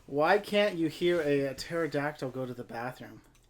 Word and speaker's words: pterodactyl: can't you hear a pterodactyl go to the bathroom because the P is silent if I never had